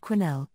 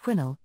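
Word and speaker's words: Quesnel: man about 10 mil from the town of quinel pronounced quinnel on the Fraser River some 200 miles north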